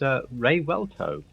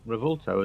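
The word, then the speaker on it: Revuelto: to pronounce it and apparently it's a ray welto not revolto as I thought so looking at the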